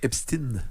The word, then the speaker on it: Epstein: Epstein. Mais mais on dit Einstein. Pourquoi on devrait pas dire Epstein ?